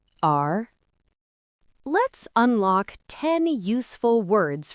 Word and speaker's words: 儿: It is pronounced in the second tone. Repeat after me. R, R, R.